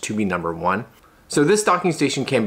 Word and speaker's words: Tobenone: from a company called to be number one and it's it's not necessarily spelled that way but that's how they want it kind of pronounced to be number one so this docking station